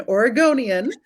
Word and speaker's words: Oregonian: There's some great Oregon plays, for an Oregonian. The correct way to say that.